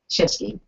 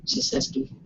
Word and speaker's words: Shinseki: So that was President Obama earlier this morning announcing the resignation of Secretary Eric Shinsky. Am I saying it right? Shinsky.